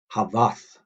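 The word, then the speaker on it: hafaþ: Slight different pronunciation there. Haveth, haveth, havath. There's a clear second A in there.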